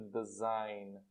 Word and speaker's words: design: A pronúncia, o G aqui não é pronunciado. Porque design.